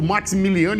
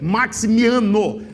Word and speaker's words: Maximiano: Eu falo Maximiliano e errei a pronúncia. Ricker Maximiano é o nome correto e a pronúncia correta.